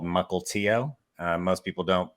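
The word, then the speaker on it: Mukilteo: i grew up in a little town called mukultio most people don't pronounce it correctly but that's how you pronounce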